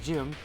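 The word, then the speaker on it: Jiren: airing July 16th krillin's battle with jiram or Jim um and it's pronounced like gy it's supposed to be a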